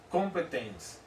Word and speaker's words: Kompetenz: Aqui a gente tem que lembrar de um princípiozinho importante, chamado princípio do competens. Se escreve competens com K e com Z no final.